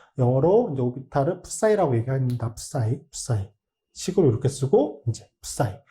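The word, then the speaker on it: ψ: 푸사이. 식으로 이렇게 쓰고 이제 푸사이. 사이라고 읽는 경우도 있는 것 같은데 거의 대부분 푸사이라고 읽는 것 같아요.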